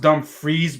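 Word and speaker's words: Dumfries: is it it is how it like it's pronounced dumb freeze but it's actually spelled out done fries it's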